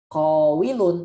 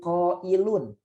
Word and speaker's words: qailun: Bukannya qawilun, tapi qailun. Nah, waw berubah jadi hamzah. Jadi qailun bukan qawilun.